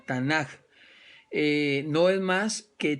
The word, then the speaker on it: Tanaj: la tanac verdad eh que se escribe t a n a K la tanaj eh No es más